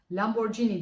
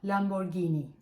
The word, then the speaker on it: Lamborghini: olmalı o markasını Biz Lamborghini diye okuyoruz Fakat aslında İngilizce'deki telaffuzu Lamborghini Biz her ne kadar